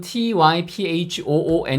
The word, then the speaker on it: typhoon: 거에요 첫번째 도전해 볼까요 자 태풍 영어로는 typhoon 인데 요 부분이 핵심 인거죠 금방 말씀드린대로 애가 스프 발음이 나요 그래서 한글로는 표기가 힘들고요